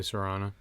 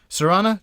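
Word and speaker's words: cerana: Species, Serana or Carana. I'm assuming that's a soft C. Probably Serana.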